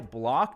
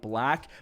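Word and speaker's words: Blach: Anyway, apparently I've been saying this guy's last name wrong for years. Apparently it's Ty Block, not Ty Black.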